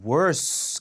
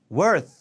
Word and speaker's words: worth: Money I spend 자 worth 할 때 주의할게 th 발음인데게 worse 발음 되면 더 안 좋은애 뜻이 돼서 문장 날아가요 이상한 말이 돼요 It was worse 아니라 worth 자 혀가 니 아니 사이에 껴 가지고 공기를 막아 줘야 t 발음 돼요 It was worth 그래서